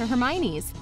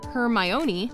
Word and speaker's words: Hermione: she'd called her jane rowling revealed that she used to hear her myoni a lot but her favorite was herme wan she found it really cute but she also cunningly